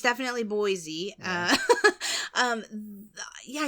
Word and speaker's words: Boise: happening but it's definitely Boise uh um yeah you can't really think of other words that end with e where you pronounce the E like e though Boise yeah yeah Boise I